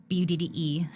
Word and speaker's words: Budde: Budde, Budde. Yeah, not Y. But it's pronounced Buddy, like Buddy the Elf.